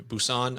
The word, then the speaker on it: Busan: and it was in Busan. I think I'm pronouncing that properly.